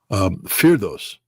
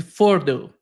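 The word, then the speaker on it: Fordow: Firdos.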